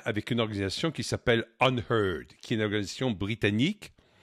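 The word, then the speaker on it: UnHerd: Et H-E-R-D, ça a un autre sens en anglais, ça se prononce également heard, ça veut dire troupeau.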